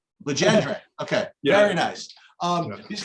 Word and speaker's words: Legendre: So we try to remove as much of the French as possible. We say Legendre. Legendre.